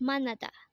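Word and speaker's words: 만나다: again I action is morning next word is manada again it's manada and this is a verb which means to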